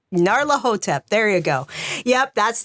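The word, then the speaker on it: Nyarlathotep: on Sunday we're playing Call of there we are doing I can never pronounce it the mass of Nar hotep narla hotep there you go yep that's the one so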